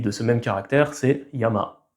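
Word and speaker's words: やま: Par exemple, montagne en japonais se dit Yama. Donc le kunyomi de ce même caractère, c'est Yama.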